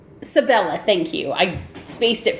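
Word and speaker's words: Sibella: So, um and I'm going to get her name wrong because it's hard to pronounce, but I'm going to try all the same. Sabil Sabila. Sabella. Sabella.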